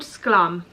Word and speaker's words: Sklum: So it's called Sklum.